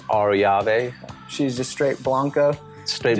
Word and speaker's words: Arroyave: If you want to roll the R's, Yeah. it's Arroyave. Arroyave. They're perfect. Argentina. Arroyave. Arroyave. There we go. Okay. My wife says Arroyave.